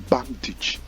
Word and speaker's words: bandage: Alright, now the next one, you have it there on the screen, pronounced bandage, and not bandage. It is correctly pronounced bandage.